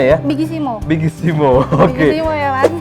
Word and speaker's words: Bigissimo: Bigissimo bacanya ya? Bigissimo.